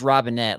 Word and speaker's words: Robinet: And that's not, and it is Robinet. Like that's how, like he actually has a video about that as well. So for those who don't know, like that's how you actually do pronounce his name.